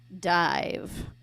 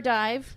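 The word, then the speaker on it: Dyev: decided on one and we are calling ourselves dive it's spelled a little weird we're spelling it D Yee V but but it's pronounced d i v so we are dive we are excited to play for you tonight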